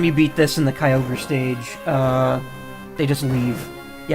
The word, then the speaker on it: Kyogre: Same with Kyogre.